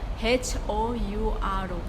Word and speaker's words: hour: Tulisannya kan 1 hour. H-O-U-A-R gitu ya. H-O-U-R. Itu dibacanya hour.